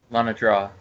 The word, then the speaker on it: Lanador: Tina also hands you a stack of a contract, just like she did with Obed and Lanador. Did I pronounce that right? Lana draw, but close enough.